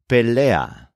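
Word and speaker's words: pelea: and an attack the word for fight is pellea spelled p EA for example my friend and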